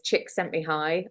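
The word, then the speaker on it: Csikszentmihalyi: great idea I love phonetically it's chick sent me High I mean just you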